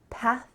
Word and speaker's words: path: So I want your tongue between your teeth, path, and make sure there's a stream of air.